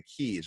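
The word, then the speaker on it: Cayes: then there's the islands or the keys we pronounce some c-a-y-e-s uh the keys we'll be talking about the largest of those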